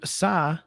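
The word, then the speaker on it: Tsai: say his name correctly it's t-s-a-i joseph saw uh i would think it's uh yes joseph psy brings to the wnba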